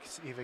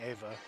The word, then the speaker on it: Eva: Eva Garrett. I've been saying her name wrong for all these years. I've been saying Ava.